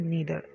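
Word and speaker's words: neither: आप इसको नाइदर नहीं कहेंगे, इसको प्रोनाउंस करने का तरीका होता है नीदर, आइदर और नीदर, ठीक है।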